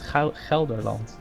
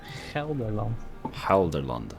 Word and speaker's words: Gelderland: It's nowadays it's Gelderland. Halderland? Gelderland.